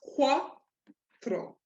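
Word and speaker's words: cuatro: a previous video that the CU gives you that KW sound that your Q would have given you in English.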